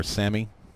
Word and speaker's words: SAME: a little bit um so the same tractor or Samy however you like to pronounce it I know it is same it's an acronym and